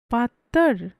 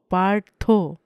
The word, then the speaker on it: পার্থ: পার্থ। পাত্তর? নো, পার্থ। পার্থ। Well, অনেকটা কাছাকাছি।